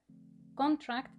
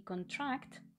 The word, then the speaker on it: contract: significado principal totalmente infractor este es el caso de muchos verbos que no se diferencian en su forma escrita de sus sustantivos por ejemplo increase increase incremento e incrementar con track y contract contrato y contratar aspect is